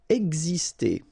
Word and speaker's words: exister: Exister. Okay, so it's really this X here, it's pronounced like gz, gz, ex, exister.